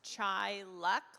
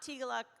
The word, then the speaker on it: Teaghlach: And it is pronounced Teaghlach, like chai tea, and luck, not Teaghlach like it's spelled.